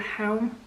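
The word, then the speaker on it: Chełm: I think it's a place called Helm, but it's not spelled like that, obviously.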